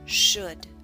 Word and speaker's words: should: book push put should note the ellen should is silent should the next sound is o o as